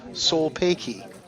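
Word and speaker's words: Sulpayki: Solpeki means thank you. It's pronounced Solpeki.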